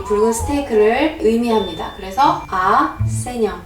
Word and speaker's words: saignant: 그래서 세뇽.